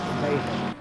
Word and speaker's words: Nijhoff: Niehoff? Almost. Nijhoff. Niehoff. Oh, is there 2 I's I Niche. can't see because I'm blind? It's IJ, and in Dutch that is A. Niehoff.